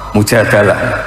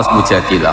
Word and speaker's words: Al-Mujadalah: *Al-Mujadalah*, sebagian orang membacanya *Al-Mujadilah*, perempuan yang menantang suaminya dan melaporkannya kepada Nabi, menjadi sebuah ayat: Allah telah mendengar perkataannya.